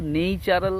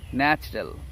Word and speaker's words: natural: আবার যদি বলি যে প্রাকৃতিক সৌন্দর্য, তখন কিন্তু আর এই যে NATURAL এটা কিন্তু নেইচারাল হবে না, তখন হবে ন্যাচারাল।